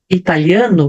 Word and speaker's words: Italian: Então, quando eu vou falar italiano, que é no caso nacionalidade, ou italiana, eu vou pronunciar o T, Italian.